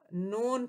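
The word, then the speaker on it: known: मशहूर थे 99 में स्पेलिंग के एन ओ डब्ल्यू एन है लेकिन हम इसको नॉन पड़ते हैं कि संघ ने सही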